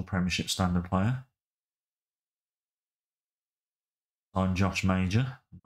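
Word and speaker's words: Maja: standard player on Josh major m it's pronounced Maj not major well send him on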